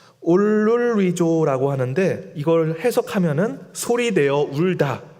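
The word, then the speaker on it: ὀλολύζω: 여기서 통곡은 헬라어 발음으로 올룰리조라고 하는데 이걸 해석하면은 소리내어 울다, 울부짖다라는 뜻을 가지고 있습니다.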